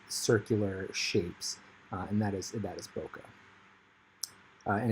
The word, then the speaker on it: bokeh: And there's a lot of bokeh actually starting to happen on the water drops.